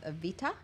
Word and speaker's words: Evita: Also, they will offer up a special gala production of Evita. I like to say it like that because that's how Patti LuPone says it, with the T.